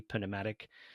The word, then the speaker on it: pneumatic: That's a silent P pneummatic.